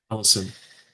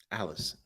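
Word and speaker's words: Allyson: Allison. Allison.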